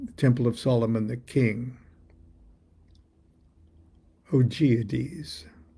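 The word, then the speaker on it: Augoeides: of Solomon the king oades is how I'm pronouncing it a u g o e i d e s Atma darana and we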